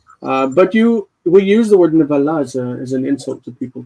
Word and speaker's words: נבלה: A repulsive thing, nevala. This is very close to the word for nevela. Nevela is a dead body, a corpse. Nevela as opposed to nevala.